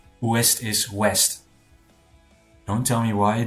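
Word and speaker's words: Ouest: West is west. Don't tell me why. The O U is just pronounced as W.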